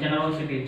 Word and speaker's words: generosity: Generosity. Generosity. Generosity. Here generosity. Generosity. Generosity. Here R is highlighted on because 1, 2, 3.